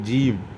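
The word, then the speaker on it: ج: அடுத்து ஜீம் ஜீம் என்பதை ஜிஞ்சர் என்று கூறும்போது போல் ஜி என்று கனமாக ஜீம் என்று கூற வேண்டும்.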